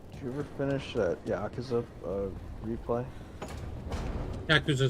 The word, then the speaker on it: Yakuza: Did I call it Yakuza? What's the correct pronunciation? Yakuza? That's how I say it. Nah, dude, it's Yakuza.